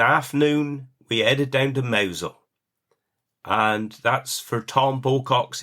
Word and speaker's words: Mousehole: And it is actually spelt Mousehole, but it is pronounced Mousehole.